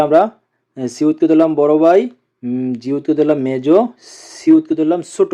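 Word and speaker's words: 지읒: তারপরে আছে জিউত, জিউতের উচ্চারণ হবে স, জ এবং ত এর মতো, সিউত।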